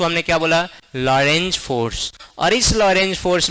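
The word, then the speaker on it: Lorentz: नाम था उसका लॉरेंज फोर्स। टी साइलेंट होता है और कुछ नहीं था भाई।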